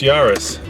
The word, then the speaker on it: Yaris: company and of course the answer is this yarus so let's uh see how these small cars